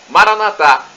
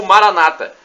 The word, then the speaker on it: Maranatá: E do aramaico eu clamo, Maranatá, expressão com a tônica na última sílaba, como dizemos nós católicos. Ou Maranata, como dizem nossos irmãos separados, os evangélicos ou protestantes.